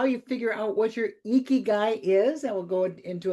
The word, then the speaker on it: Ikigai: If you have not, that's exactly how it's pronounced, Ikigai.